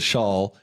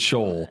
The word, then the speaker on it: Shull: See, there's no O in there. Shoal. She says a shawl, and he says shoal.